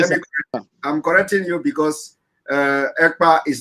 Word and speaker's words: Ekpa: And my name is not Akpan. My name is Ekpa. EKPA.